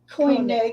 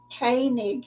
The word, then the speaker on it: Koenig: I've been pronouncing his name incorrectly. Koenig. Yeah. Not Walter Koenig, it's Koenig.